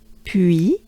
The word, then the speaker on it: puis: So here's how you pronounce it. Puis. So here again we have the U. U, U, U. U goes into E. Banana smile. Not easy. So just exaggerate it.